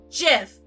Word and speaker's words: GIF: I know, because I'm a Google fanatic, that it is supposed to be GIF, like the peanut butter. I know that. Intellectually, I know it is supposed to be GIF.